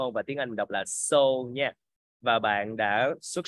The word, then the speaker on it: Seoul: Mình Giết là s ioul và tiếng Anh đọc là so Nha và bạn đã xuất sắc làm đúng